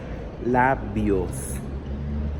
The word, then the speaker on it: labios: For example, the word lips in Spanish is labios. So we really do close a lot our mouth as we pronounce it.